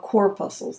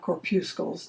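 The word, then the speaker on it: corpuscles: and enhancements on that they're called cor pusles not corpus just to be sure we're pronouncing it correctly and um as you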